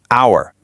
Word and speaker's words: hour: The H here is a total trick. It is completely silent. The correct pronunciation actually sounds exactly the same as the word o. It's just our usually a huge aha moment for a lot of learners.